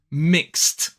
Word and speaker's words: mixed: Mix ends with a s sound as well. Mix. Mixed. Again, with the ED being pronounced as t. So mix becomes mixed.